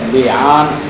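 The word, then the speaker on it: لعان: یہ تلفظ اس کا ہے لیان، لعنت سے ہے، قذف اور لیان.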